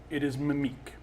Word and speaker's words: Mimique: I'm going to be playing Mimique, which is spelled mimic, but it is Mimique.